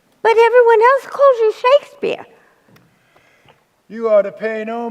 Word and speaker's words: Shakespeare: fetch us some tea oh yes Mr Shack bear whatever you say Mr Shakespeare tosser pronounced Shakespeare you know quick wit